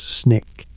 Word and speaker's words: SNCC: student nonviolent coordinating committee SNCC's pronounced snick.